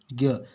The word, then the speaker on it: ज्ञ: बन जाएगा है ना ज्ञ उच्चारण की दृष्टि से इसमें क्या आ जाता है ग अय को हम लोग पढ़ते हैं ज्ञ है ना ठीक है